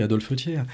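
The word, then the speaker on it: Thiers: rel foutriqué F foutriqu adolp tierre et euh il faut bien prononcer par qu'on a déjà eu des problèmes c'est bien adolp ther adolp ah oui c'est pas adolp hicl c'est adolp tier oui bien sûr ou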